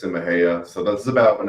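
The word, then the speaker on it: Mexia: morning Mexico am I I mean Mees me messia actually funny enough it's pronounced Maha Maha okay yeah and the reason why I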